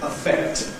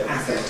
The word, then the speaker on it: affect: And therefore you had to use strong vowels and said affect and effect, which is an entirely,